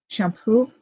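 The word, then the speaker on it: Champoux: Um, this is a a lay line that was found by a man man named Peter Champoo. It's spelled ch h a m p o u x and his website is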